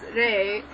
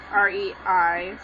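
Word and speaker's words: 霊: you're shouting everything because ghost over there is pronounced as Rey which is also used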